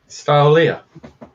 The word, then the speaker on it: Stylelia: Stylelia. Stylelia. There's Okay. a full like style in the middle.